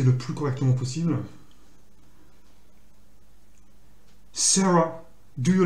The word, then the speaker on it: Sarah: En fait, il faut prononcer Sarah. C'est son E. Sarah. Parce que quand le A il se trouve en fin de mot, il a tendance à se prononcer E. Puisqu'il n'est pas accentué.